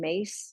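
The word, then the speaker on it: Myss: anatomy of Spirit by Carolin mace last name is spelled my SS is by far the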